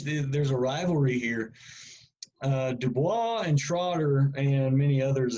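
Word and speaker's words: Du Bois: name of uh W.E.B DuBois that's franchise American but uh he's got French ancestry so that's how you pronounce his last name um and uh William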